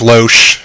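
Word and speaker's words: Loesch: is it's like Skyler Skyler Rose loach or Lorsch or however the hell you pronounce it l OE s CH low Sh yeah there we go close enough so what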